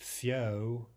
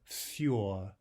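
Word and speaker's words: всё: And finally, we want to say for everything, not fio, fio, but fjor, fjor.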